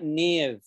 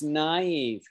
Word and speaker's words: naive: the pronunciation it's like it looks like niv but it's naive naive naive naive okay